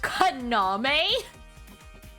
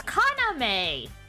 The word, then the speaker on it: Kaname: It's Kaname, not Kaname. You're putting the emphasis on the wrong syllables here. In Japanese, usually from my understanding in Japanese, the emphasis is usually on the middle syllable, not the first syllable.